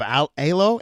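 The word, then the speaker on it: Aylo: It does sound, Solomon, that you are proud of the current state of ALO. ALO, is that how you say it? ALO, that's right.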